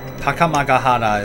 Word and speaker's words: Takamagahara: Behind us, on the field of Takamagahara. Takamagahara is how you should pronounce it, but it's okay.